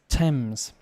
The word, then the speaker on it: Thames: a place uh did i say thames it's thames over here in london the pronunciation woolwich no wolich greenwich greenwich so uh